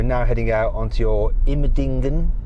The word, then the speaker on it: Immendingen: Okay, so we've just gone through security and we're now heading out onto your Immendingen. How do you say it? Yes, that's quite good. Immendingen test track.